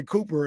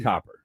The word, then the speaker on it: Copper: Cuz I used to always say Cooper and that's not her name. Copper.